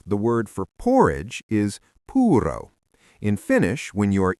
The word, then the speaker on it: puuro: For puro, we add an a. So it becomes puroa.